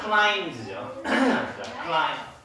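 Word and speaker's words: climbs: 자, 클라인즈죠. 클라인즈. 스쿼러 클라인즈. 자, 스쿼러 클라인즈. 자, 여기서 B는 발음 안 한다고 했지?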